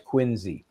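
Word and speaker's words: Quincy: That's quinzy.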